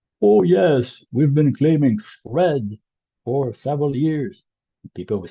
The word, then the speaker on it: SR&ED: in the industry say shred so why is that I don't know but somehow this pronunciation has emerged organically and Shred is like the debris coming out of a shredder this machine um so